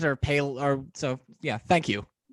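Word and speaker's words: Paillot: illustrator Jim pelot well that's that's how you pronounce his name pay a lot okay anyway okay I wasn't sure if it was palette or pale or so yeah thank you I think it's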